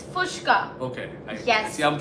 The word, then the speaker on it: Puchka: It's Puchka. Okay. Yes. See, I'm pronouncing it fucking wrong.